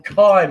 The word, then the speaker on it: chyme: Or chyme is the way we pronounce it. We pronounce it chyme, but you write it as chyme.